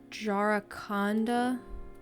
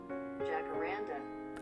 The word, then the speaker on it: Jacaranda: I think it's called the Jaraconda. Jacarandas? Let's go to Google real quick. Google Translate, if you may. Jacaranda. I pronounced that 100% wrong. Thank you, Google.